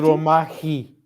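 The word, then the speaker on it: Ανδρομάχη: How is pronounced Andromache? Andromachi.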